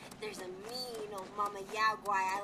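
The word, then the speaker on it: Yao Guai: Yaogwai, so that's how you pronounce it.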